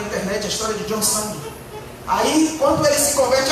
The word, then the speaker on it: John Sung: Se escreve John Sung, mas é Sung.